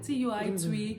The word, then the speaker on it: TUI: TUI. Is that how they pronounce that airline's name? Yeah, TUI.